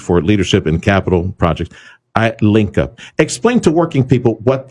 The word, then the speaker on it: iLinkUp: That would be iLinkUp, as it's pronounced.